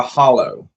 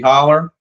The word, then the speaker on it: holler: And it's you don't pronounce anybody from the holler don't call it a hollow.